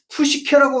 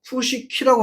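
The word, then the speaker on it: ψυχή: 분해 부마라고 하고 푸시케라고 안 하고 푸시키라고 하는 거예요. 그다음 제가 이제 하도 이게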